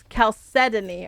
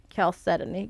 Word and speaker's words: chalcedony: It's Chalcedony. Alright, it's a heart. Okay, gotcha. Chalcedony.